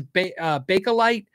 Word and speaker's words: Bakelite: There's Bakelite. And I just found out recently that I guess that's the actual correct pronunciation.